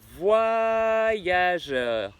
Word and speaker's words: voyageur: Or, normalement, ici on prononce voyageur. Et oui, non seulement le Y fait le son YE, mais le O avec le Y, ça fait WA. Donc ça fait pas voyageur, ça fait voyageur.